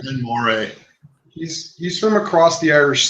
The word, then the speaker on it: Glen Moray: So what are you guys getting out of the Glen Murray? Glen Moray. It's Glen Murray. Don't listen to him. Glen Moray.